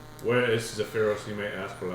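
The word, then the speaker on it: Zephyros: Is located in Zapira. How do you spell that? Z E P H Y R O S. Where is Zapira, you may ask?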